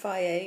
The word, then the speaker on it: Fage: This is Fage. It's pronounced Fage. It's spelled F-A-G-E. Some people call it Phage, but it's Greek yogurt.